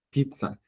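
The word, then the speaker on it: 피자: Los coreanos lo pronuncian con fuerza.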